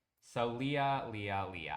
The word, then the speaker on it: Leah: So Leah, Leah, Leah. I figured it was that and not Lay, but these little kid stuff right here, the drum set and stuff, also comes from Sixum.